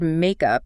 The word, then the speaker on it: makeup: And critically, the stress is on the first syllable. Makeup. Ah, stress is key. It's absolutely key. Compare it to the verb forms we just discussed. Reconciliation, makeup, invention, makeup. The stress is on up.